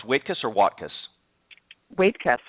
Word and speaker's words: Waitkus: Waitkus. Wait before you cuss is how my father-in-law told it to me.